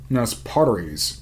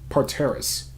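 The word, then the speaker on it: parterres: with wide terrace prep potteries is that how you pronounce that let's find out parteris okay with wide terrace parthairs extending back the whole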